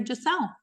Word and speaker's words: Giselle: then we'll name her jelle and so it's spelled for the French way like the authentic French way and it's all due